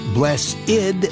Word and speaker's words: Blessid: only one slight change he wanted to spell the word blessed the wrong way with an i instead of an e so that people would pronounce it the right way here's bless ID Union of Souls and